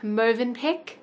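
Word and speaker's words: Mövenpick: We went for like a nice long walk along the beach, and then came back and had Movenpick.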